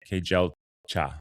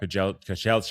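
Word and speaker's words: Kejelcha: Kelcha. Yeah. Kelcha.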